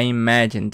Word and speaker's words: imagined: Então, note que a pronúncia do passado, esse AD, você não vai falar imagined, como muita gente fala, imagined. Não, imagined, imagined. Imagine. Geralmente, você vai cortar esse E e vai direto pro D.